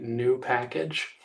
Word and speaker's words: nupkg: Um, I'm going to go against the grain and pronounce the entirety of it and say new package.